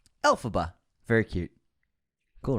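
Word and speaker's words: Elphaba: wicked witch alphaba was created by taking a phonetic pronunciation of the original Wizard of Oz author L frank bomb's initials which are lfb which became alphaba alphaba very cute cool right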